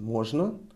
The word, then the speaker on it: можно: We emphasize on о. We raise our intonation. Можно.